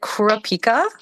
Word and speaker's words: Kurapika: yeah how are you oh and am I pronouncing your name right is it Kurapika yeah perfect I don't know what's the story